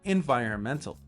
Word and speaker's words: environment: And again, here we can see the word environmental. Remember, don't pronounce the N.